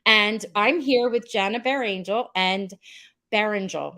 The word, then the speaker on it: Berengel: I'm here with Jenna Bear Angel and beringel let me say it correctly beringel she taught me a trick and said bear an angel bear Angel because I like to